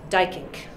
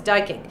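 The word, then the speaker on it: Duyckinck: So now it's in my notes, Dykink. It's spelled D-U-Y-C-K-I-N-C-K, he was Dutch.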